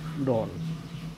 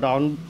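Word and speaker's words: dawn: প্রথমে আমরা বলেছি যে প্রথমে অ্যাড বসাবো, যেমন অ্যাট ডন, এটাকে আবার কেউ কেউ ডাউন বলে, কিন্তু এটার উচ্চারণ হবে ডন, অর্থাৎ প্রভাত।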